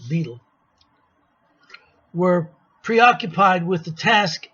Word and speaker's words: Bedell: b smith that's uh beetle smith they called him b and spelled bedell but they pronounced it beetle were preoccupied with the